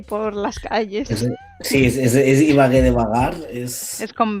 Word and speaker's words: Ibagué: Ibagué, ¿cómo se escribe? Ibagué por las calles. Sí, es Ibagué de vagar, Es con B.